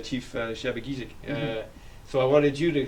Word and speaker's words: Shabogesic: and now it's pronounced Shabogesic. And so the first sound in there is a zh sound. It's like a white noise sound, or in the word Asia.